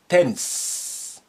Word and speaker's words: التنس: You see, ta here is your sun letter, therefore it's carrying shadda, and as a result, lam is being suppressed. And alif is silent because it's not at the beginning, as you know.